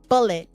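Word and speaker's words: Bulleit: for the first time ask them if they have bullet B you spell it but it's b u l l e i t i got this from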